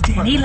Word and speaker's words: DaniLeigh: She's Danny Lay. All right. Like, hey, it's a little accent over the E.